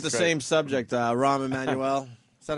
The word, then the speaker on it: Rahm Emanuel: same subject, Rahm Emanuel.